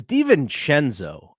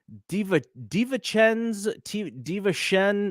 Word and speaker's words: DiVincenzo: By the way, Reggie Miller, it's DiVincenzo.